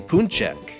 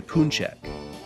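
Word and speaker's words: pączek: poochy poochy is plural this is a poon check if you want just one you should ask for a poon check but very few people know this because no one ever wants just one okay now to the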